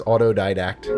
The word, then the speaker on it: Autodidact: So, it is pronounced autodidact.